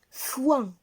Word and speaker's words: foin: Il se compose d'une syllabe. Coin. On passe. Le deuxième mot, c'est le mot foin.